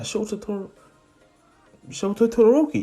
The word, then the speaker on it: Shoto Todoroki: Yeah, Shoto Todoroki, yeah?